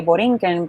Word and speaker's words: Borinquen: And later on, like nowadays, you would say Borinquen, but like you can spell it like that if you wish.